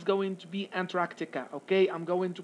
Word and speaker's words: Antarctica: it's going to be antarctica okay i'm going to pronounce it the way it has to be pronounced because some people are pronouncing it in a wrong way they do not pronounce the k okay which is a